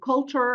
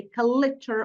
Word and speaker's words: culture: many speakers in Arabic insert a vowel between the L in the between the L and the CH sound creating a new or an extra syllable and and causing problems with the stress of the word and this affects the clarity and intelligibility of their speech okay so instead for example of saying culture and picture they say kit or pure which are Miss pronunciations of the two words okay so what we